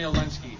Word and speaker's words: Olenski: spell your name so i make sure i pronounce it correctly okay olensky o-l-e-n-s-k-i first off talk a little bit